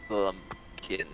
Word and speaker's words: Blumpkin: Bartholomew Blumpkin. It rhymes with pumpkin.